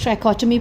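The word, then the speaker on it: trichotomy: Just pronounce it, because बच्चे इसको बड़े गलत तरीके से प्रोनाउंस करते हैं। The word is ट्राइकोटमी property, okay.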